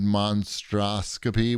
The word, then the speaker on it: Monstroscopy: The only reason why I know that I'm pronouncing it right is because when the game starts, it goes monstroscopy. So you're practiced.